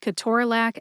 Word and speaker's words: ketorolac: In this episode, I'll divide Ke-TOR-a-LAC and Toradol into syllables, tell you which syllables have the emphasis, and then reveal the sources of my information.